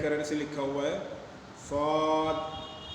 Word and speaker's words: صاد: سے لکھا ہوا ہے، صاد کھینچ کے پڑھیں گے، یعنی صرف صاد نہیں پڑھیں گے بلکہ صاد الف مد زبر سا دال ساکن